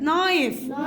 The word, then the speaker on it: knife: هنا قولوا معايا كلايم البي مالها سايلنت يلا رايت الدبليو سايلنت تو هنا الاو الدبليو ما نطقش اور الاتش سايلنت نايف سكينه الكي سايلنت ايلاند جزيره الاي الاس سايلنت كسل التي سايلنت ساين الجي سايلنت.